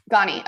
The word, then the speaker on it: Ghani: Does anyone know how to pronounce his name? I think is it Ashram Ghani? Ghani.